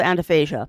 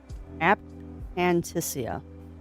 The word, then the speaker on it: aphantasia: That is true for people with anaphasia. You're not wrong, Pixie. And, oh man, I have never met someone who has anaphasia. Saying it wrong. Aphantasia.